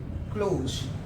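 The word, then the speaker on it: close: क्लोज का बात करेंगे इसे प्रोनाउंस करते है क्लोज क्लोज ज का साउंड आता है किसका साउंड आता है ज का क्लोज क्लोज मतलब बंद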